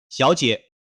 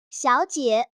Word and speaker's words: 小姐: 最後，給個發音小提示：「小姐」中的兩個字都是第三聲。當兩個字一起說時，第一個字會變成第二個音調。聽：「小姐」。聽起來像是第二個音調後面跟著第三個音調。